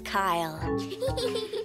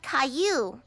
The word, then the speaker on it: Caillou: My name is Caillou. Oh, Caillou. I'm sorry. I'll remember that from now on, because Caillou rhymes with sky blue, like your beautiful painting yesterday.